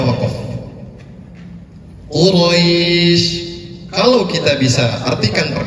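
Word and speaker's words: قريش: Quraisy kalau kita bisa artikan per kata, mad artinya panjang. Li'ilafi Quraisy, panjang. 2, 4, atau 6 harakat, tergantung kepada tempo yang digunakan.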